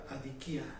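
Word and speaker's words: ἀδικία: La injusticia en el idioma original se pronuncia adikia.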